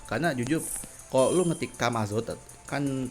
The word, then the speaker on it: Camazotz: Karena jujur kalau lu ngetik Kamazot kan, Kamazot tulisannya kan CAMAZOTZ, Kamazot, tapi dibaca Kamazot, kan ditulisnya Camazot, tapi kalau dibacanya kan Kamazot.